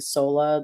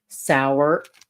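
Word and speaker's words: Sauer: for me before but like the Sig Sola the Sig SAA the Sig sour I think that's what it was s sour but he said so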